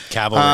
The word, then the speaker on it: cavalry: Okay, well, cuz my brain always goes, "Whoa, you got to get the B and the L right." Cavalry.